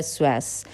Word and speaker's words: psoas: साथ जोड़ता है और इस मसल का नाम है स्वास इसको जो है इसको आप इसकी स्पेलिंग ऑफ देख सकते हो उसमें पीस जो है वह साइलेंट होता है तो इसको आप जरूर